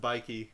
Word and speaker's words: Nike: trying to say that it could be pronounced by key I say Nike I wasn't being like